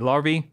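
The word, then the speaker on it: larvae: larva on the ground wait wait wait larva yeah apparently that's the proper way to pronounce the plural of larva I googled it anyway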